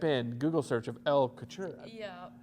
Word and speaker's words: Couture: Yeah, I just say couture. How do you say it though? I usually say co and then chur. Couture. Yeah.